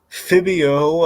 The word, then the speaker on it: Phabio: But yeah, so or as I call it, Fabio, but spelled with PH instead of F. It looks like she's holding a hat. Like, hey, Phineas, I have, sorry, Phabio, I have a hat